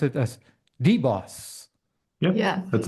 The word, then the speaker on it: DBOS: but based on that description maybe we can pronounce it as deboss yeah yeah that's how we say it is